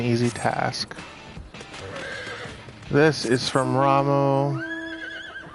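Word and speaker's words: Ramuh: This is from Ramu. I always pronounced it Rama because UH makes the sound, not the oo sound.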